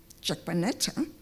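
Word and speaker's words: Jaquenetta: You will get a half French, half Finnish Jaquanetta, pronounced Jaquanetta if you had to pronounce it in English.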